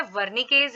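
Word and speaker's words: Wernicke: left temporal लो में वर्नी केज area रहता है we will pronounce it like वर्न केज area तो वर्न केज एरिया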